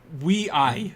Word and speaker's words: WEi: how to pronounce this Wei that's how they're going with it just a heads up it's uh it's it's spelled we yeah which is a popular Chinese way of saying way uh but it's we